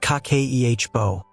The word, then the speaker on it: Kakeibo: Kakeibo, pronounced kah-keh-ee-eh-boh, means household financial ledger in Japanese.